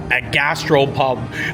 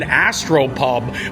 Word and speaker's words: Astropub: I'm really shocked with the Meteor Gastropub. I keep on saying it wrong because it's an Astropub. It's a play on words.